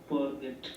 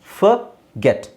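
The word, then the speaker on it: forget: ಫರ್ಗೆಟ್ ಫಾರ್ಗೆಟ್ ಅಂತಾನೂ ಹೇಳಲ್ಲ R silent ಆಗಿರುತ್ತೆ ಓದು ಉಚ್ಚಾರಣೆ ಅ ಅಂತ ಆಗುತ್ತೆ ಸೊ ಫರ್ಗೆಟ್ ಫರ್ಗೆಟ್ ಐ ಫರ್ಗಾಟ್ ಫರ್ಗೆಟ್ ಫರ್ಗಾಟ್ ಫರ್ಗಾಟನ್ ಫರ್ಗೆಟ್ ಫಾರ್ಗೆಟ್ ಅಂತ ಪ್ರೊನೌನ್ಸಿಯೇಷನ್ ಹೇಳ್ತೀವಿ ಅಂದ್ರೆ ನಮ್ಮ ಇಂಡಿಯನ್ ಪ್ರೊನೌನ್ಸಿಯೇಷನ್ ಅಲ್ಲಿ ಬಟ್ ಅವರು ಕರೆಕ್ಟಾಗಿ ಹೇಳೋದು ಫಗೆಟ್ ಫಾರ್ಗೆಟ್ ಫಾರ್ಗೆಟ್ ಅಷ್ಟೇ ಹೇಳಿದ್ರೆ ಸಾಕು ಫಾರ್ಗೆಟ್ ಅಂತ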